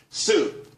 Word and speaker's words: Tsu: everyone could be happy Sue TSU it's pronounced Sue though that's that's a website.